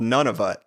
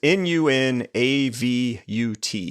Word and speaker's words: Nunavut: saw a territory called Nunavut. I had literally not heard of this place. So Not none of it, but none of us. yeah, I don't know if I'm pronouncing it right, but it's Nunavut.